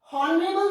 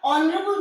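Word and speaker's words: honorable: अब जैसे ऑनरेबल, हॉनरेबल नहीं बोला जाता, ऑनरेबल बोला जाता है, अ की आवाज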